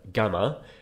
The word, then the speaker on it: gamma: Next we have gamma, which we can remember how that's pronounced through the word ganglion.